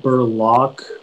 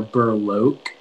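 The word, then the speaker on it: breloque: the information yeah so it can be pronounced burlock or burloke it's a noun and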